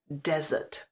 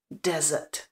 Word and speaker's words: desert: toho prvního toto slovíčko To první znamená poušť a vyslovuje se desert desert takže pozor na to des Já vám dám takovou